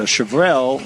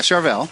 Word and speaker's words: Charvel: Well, in fact, I brought in a Chevel. Uh, did I pronounce that right? Yeah. Charvel.